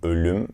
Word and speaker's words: ölüm: Then we have the O with the two dots on it. You might already know it if you speak German. In English, it is close to the sound you have in work or birth. It is pronounced as in ölüm, which is death in Turkish.